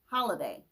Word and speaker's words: Holiday: which is holiday but at first she pronounced her name billy halliday with a h a instead of a h o and then over time she dropped the holiday and she turned it to billy holliday with her name change